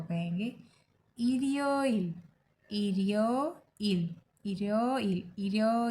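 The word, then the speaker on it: 일요일: And Sunday को कहेंगे इरियो इल, इरियो इल, इरियो इल, इरियो इल।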